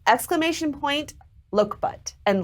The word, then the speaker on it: Lokebutt: and so the code word it's exclamation point look butt and loka butt is spelled l-o-k-e-b-u-t-t his name is look what his